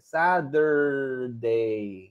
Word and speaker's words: Saturday: Pero no es una T, es como una, se pronuncia como una D y una R, Saturday.